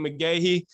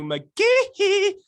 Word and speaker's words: McGehee: His name is not Matthew McGehee. He said you got to say it like Michael Jackson. His name is Matthew McGehee.